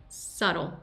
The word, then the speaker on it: subtle: La B es muda. Subtle, subtle. You see very, very subtle change in color temperature, not so much value.